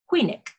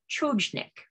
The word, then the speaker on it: Chojnik: like I was dim, replying, "It's pronounced just the way it's spelled, Huynik." If I pronounce it just the way it's spelled, I would say Chojnik.